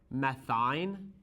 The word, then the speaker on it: methyne: And that CH group we refer to as methyne. Although it sounds like alkyne, it's not spelt like alkyne.